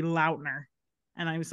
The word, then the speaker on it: Lautner: I saw a TikTok the other day that Taylor Lautner said it's supposed to be Lautner.